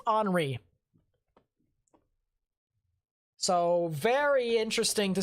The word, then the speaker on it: Henri: i believe it's pronounced henri i believe anyways i would think it's pronounced honoree because it seems to be french either that or it's henry but i think it's henry so very interesting to